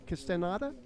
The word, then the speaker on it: Castaneda: How do you pronounce his last name? Castaneda? Yeah.